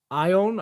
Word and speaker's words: Ion: it is game director i own i believe is how you pronounce the first name how's it cost us